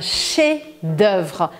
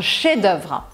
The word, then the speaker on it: chef-d'œuvre: E se for uma obra-prima, a gente chama isso de un chef-d'œuvre. Se escreve com F, mas você não pronuncia. Un chef-d'œuvre.